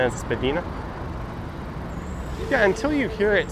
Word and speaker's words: Spadina: Trey says when you move to Toronto, you pronounce Spadina as Spadina.